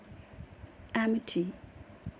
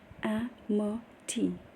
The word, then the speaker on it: amity: Amity, Amity, noun. It's pronounced as amity. A for apple, AE. M-E, short sound, and then Ti. Amity, amity, apple, short sound, and T. Amity.